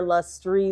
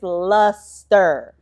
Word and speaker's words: Lustre: It's luster. I know luster is spelled l u s t e r.